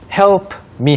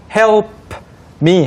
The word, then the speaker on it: help me: help me 하면 좋겠지만 Right. P가 약해지죠. Right. So it's very difficult to say help me. because it takes too much energy. So we just put it together.